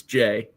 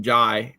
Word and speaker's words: Jai: When he was hired from Kentucky at Duke, I spent like a couple weeks calling him Jai because you just you see the AI and want to pronounce it differently, but it is Jay.